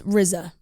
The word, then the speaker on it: RZA: RZA, RZA is what I thought. like SZA.